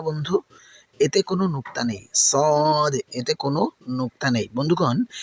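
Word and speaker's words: صاد: এটি উচ্চারণের সময় মুখটা গোল হয়ে যাবে এবং আওয়াজটা অনেক ভারী বা মোটা হবে। শুনুন আমি কিভাবে বলছি। সদ সদ সাধারণ সিনের মত পাতলা করে কিন্তু হবে না মনে রাখবেন সাধারণ সিনের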